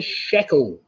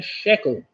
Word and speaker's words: shekel: That's a freckle, which of course rhymes with the shekel. A freckle and a shekel.